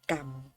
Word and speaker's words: กรรม: ไร คำ นี้ นะ คะ อ่าน วะ กัม สะกด ว่า เกาะ เกาะ อ่ะ ค่ะ เหมาะ กรรม เด็ก ๆ สังเกต ที่ รอ หาง นะ คะ